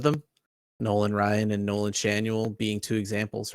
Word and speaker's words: Schanuel: the guy's name so I looked it up Shanel you want to guess what Nolan Chanel's middle name is Ryan yep you know I